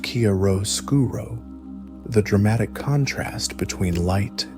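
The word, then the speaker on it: chiaroscuro: He was also the Renaissance master of Kiaroskuro, pronounced Karro Skuro, the dramatic contrast between light and shadow.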